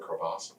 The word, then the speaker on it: crevasse: And by the way, can I commend you on using the French pronunciation of the word crevasse? Crevasse.